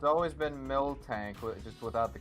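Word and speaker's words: Miltank: Yeah, it's it's always been mil tank just without the K.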